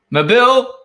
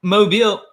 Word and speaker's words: Mobile: I think as long as the stress, the accent is on the second half of the word, right, you're doing fine.